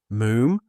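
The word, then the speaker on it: Moffam: Moon. It's spelled M O F F A M but pronounced moon to rhyme, said Archie helpfully with bluffingham.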